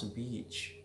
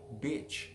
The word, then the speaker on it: beach: careful when you pronounce beach if you speak too fast you will sound like bitch but you should sayI want to go to beach, not bitch.